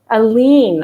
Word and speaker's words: Alleyne: i think i'm going to get this wrong aline okay and pronoun she her genevieve bella view